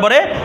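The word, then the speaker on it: پیر: হবে ঠিক আছে আচ্ছা যেমন দেখেন কি উচ্চারণ করবো পীর পীর পে ইয়ে রে। তাইলে পের পরে জিরের পরে ইয়ে সকিন আছে না উচ্চারণ হবে ই তাহলে কি হবে পীর পীর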